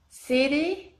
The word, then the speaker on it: city: Et pour bien prononcer la lettre T, par exemple, le son T devient D. Donc, par exemple, si je vous dis la ville, comment vous allez le dire en anglais? City, city.